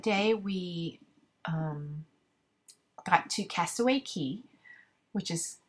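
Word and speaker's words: Castaway Cay: So basically, that day we um, got to Castaway Key, which is spelled Cay, but they pronounce it Key in the Bahamas.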